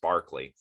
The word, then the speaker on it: Berkeley: little bit more about berkeley here or barkley it's technically pronounced barkley so george barkley was